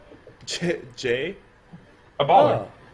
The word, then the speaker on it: Jaya Ballard: Jay? A baller. Oh, baller. Yeah, Jay, a baller. The D is silent, obviously.